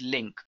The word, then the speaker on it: LINQ: is what exactly is linked linq which stands for language integrated query pronounced as link and it is a